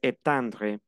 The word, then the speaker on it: étendre: Alors, repetez la pronunciación del verbo étendre. E. Acuérdense que la E y la I es E abierta, pero aquí se convierte en una E sonriente.